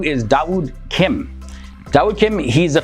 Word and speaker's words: Dawood: Now, after becoming Muslim, he changed his name to Dawood Kim, and Dawood is the Arabic pronunciation of the name David.